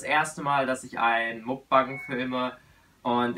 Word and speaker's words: Mukbang: einen Mukbang filme und ich finde die Aussprache davon immer noch komisch, weil es ist ja koreanisch und es müsste eigentlich Mokbang heißen, weil es ja ein koreanisches Kofferwort aus dem Wort für Essen und dem Wort für Senden oder Sendung ist, so wie ich das in Erinnerung habe.